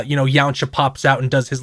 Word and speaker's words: Yamcha: encounter to feel Cullingham Yamcha I've decided to say it incorrectly the other direction I'm gonna say it like the word Kombucha but without a B and with the y at the beginning I'm sorry I'm like